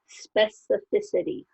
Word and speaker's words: specificity: and its specificity so we put a different emphasis on the syllables that we do for these other ones specificity specificity and that's the noun of